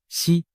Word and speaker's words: 石: 胡锦涛，实在某些方言里读作西，实难逃